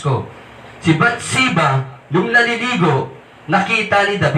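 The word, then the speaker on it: Bathsheba: ' ba he committed adultery pinagnasaan niya si batsa naliligo si batsa Tama ba bats nga ba pangalan siba Okay sorry mali ang pronounce ko si Bat siba nung naliligo nakita ni David nagkaroon siya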